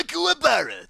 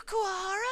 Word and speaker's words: Kuwabara: Nice to meet you, Kuwahara. There it is. It's Kuwabara. That's what I said. Kuwahara. Kuwabara. Kuwahara. Bara. Damn it, my name is pronounced Kuwahara. I don't like you.